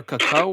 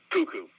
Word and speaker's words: Cuckoo: sorry after what uh cako or kako it's Kaku right cuckoo cuckoo cucko okay yeah I don't know why I mispronounced that it ends with us